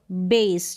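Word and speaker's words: base: जैसे कि इन सारे स्पेलिंग में है बे और स, बेस। जो लास्ट में ई होगा ये साइलेंट रहेगा।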